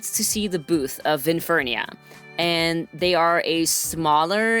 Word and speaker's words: Vinfernia: V I N F E R N I A. I know how to spell it.